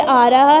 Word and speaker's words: hour: होता है आर, घंटा, घंटे को इंग्लिश में आर कहते हैं ना, स्पेलिंग होते हैं HOUR, तो पढ़ते उसको आर हैं, हॉर नहीं पढ़ते, एच साइलेंट होता है, लेकिन हम पढ़ते उसको आर हैं।